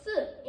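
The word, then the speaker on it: 四: And number 4 in Chinese is generally disliked by people because it's pronounced si in Chinese, which has the same pronunciation as death.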